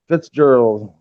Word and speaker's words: Fitzgerald: we're not and women wait gorgeous oh yeah Fitzgerald yeah that's how you pronounce it Frick Darrow thank you but on